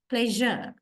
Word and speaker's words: pleasure: as that light okay it has to a w means we are voicing we voice we voice sh sound then it is pronounced as not as sh it is pronounced as J J pleasure I hope you all